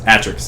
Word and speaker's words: Atrox: it's uh the Razer atrox atrox atrox atrox yeah atrox or Atrix Atrix or atrox I think it's Atrix Atrix is how you pronounce it Atrix it's pretty awful